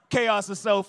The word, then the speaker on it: Tchaositself: So, my name is Chaos Self. I spell it T. Chaos. The T is sounding like the D and Jango.